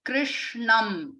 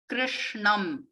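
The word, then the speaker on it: कृष्णम्: so all of them krishnam all of them are sharp sounds and they are meant to be pronounced with the tip of the tongue touching the roof of the mouth okay one day so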